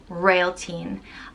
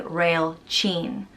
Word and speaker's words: Réaltín: fatah a-l-t-i-fata n and it's pronounced rail teen rail teen um there are different dialects around ireland there's four different provinces and names tend to be pronounced differently in each province i'm in leinster so this is how i'm pronouncing these names but somewhere else in ireland and someone might say rail chin rail chin rail tat